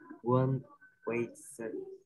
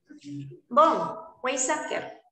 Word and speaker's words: von Weizsäcker: Propuesta por One Weiser. Fuerte. ¿Cómo se dice eso, profesora? Von Weizsäcker.